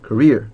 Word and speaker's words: career: 여기 뒤에 이음절의 발음 강세가 있네요, 그죠? career.